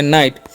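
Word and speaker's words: night: और जी एच है ना इसका साइलेंट कर देना है। टी से तो हो गया नाइट।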